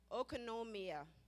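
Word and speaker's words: οἰκονομία: When I looked up the word for steward that was in our text today, it's pronounced okonomia. What does that sound like? Okonomia. What does it sound like? Economy.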